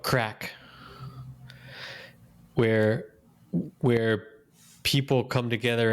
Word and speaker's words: craic: like something like that they call it crack but it's with a hard c at the end yes it is yeah